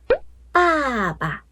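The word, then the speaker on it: 爸爸: 好，再看一下四声轻声的时候，爸爸，爸爸，爸爸，爸爸，比最低的音还要低，爸爸，爸爸，爸爸，怎么样？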